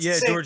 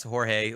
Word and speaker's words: Jorge: And George, you're awesome. And they're like, oh, it's Jorge. Like, It's just different language. It means the same thing. exactly. Just pronounced differently.